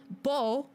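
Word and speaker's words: Bou: So R-A-E-N, rain, is a Korean syllable. Bo, B-O-U, that is how they write out like katakana, hiragana, all that stuff in Japanese to being bo. So that's why it is the long O sound.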